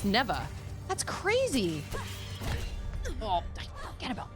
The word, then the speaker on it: Neva: neba it is nea I was thinking she pronounced it slightly differently but man she comes out like my third hit it's neeva that's crazy oh forget about that gosh dang